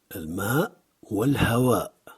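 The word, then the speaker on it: الماء والهواء: Il est très important de bien prononcer le ha. Al-ma wal-hawa.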